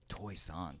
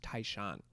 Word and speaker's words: Taishan: Toysonis. That's crazy. Yeah. Well, they they pronounce it like Toyson, but anyone that I meet that's speaks Mandarin from like a different part of China, it's pronounced Taishan.